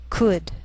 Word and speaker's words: could: she'll it'll wheel veil sometimes L can be silent so you have to be careful the first five words listed below are very common so let's take the time to make sure that you're pronouncing them correctly listen and repeat after